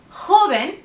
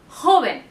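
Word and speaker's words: joven: them out but again J is huh okay it's the heavy H sound so it's and haben and feminine is LA haben okay so these words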